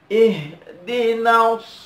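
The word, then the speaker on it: اهدنا: Nah, di sini setelah ihdina, ini nunnya panjang. Coba diperhatikan. Nah, berikanlah hidayah kepada kami. Ihdina, nunnya panjang. Maka agak dipanjangkan sedikit.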